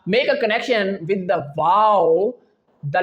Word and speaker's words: و: But when we move towards the letter wow, which is the third letter pronounced from our lips, wow, it is totally different. How? Because when we pronounce the letter wow, our both lips get rounded.